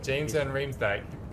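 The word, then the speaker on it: James van Riemsdyk: You got to pronounce this name. James Van Rimska. Rimsky. Sound it out. Rimsadika. James Van Rimsdijk.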